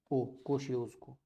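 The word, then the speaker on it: Kosciuszko: और ऑस्ट्रेलिया की है कोशियोस्को, ऑस्ट्रेलिया की सबसे ऊंची चोटी है कोशियोस्को, KO, थोड़ी सी प्रोनाउंसिएशन में टफ है, SIUSZKO, कोशियोस्को।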